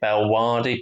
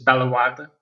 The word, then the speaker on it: Bellewaerde: We was it's probably completely wrong pronunciation wise. We call it Belwadi Park. Yeah, well, it's good enough for me to know what you're talking about. So yeah, it's not all that differently pronounced. It's Bellewaerde, but yeah, Okay, yeah, it was Belgium's version